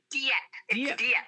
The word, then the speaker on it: Dieppe: And now you reside in, is it Dieppe? Is that how you say it? Dieppe.